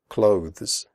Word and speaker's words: clothes: The final sound is a the followed by an s. Clothes. If this is difficult for you, just pronounce it like close, as in close the door.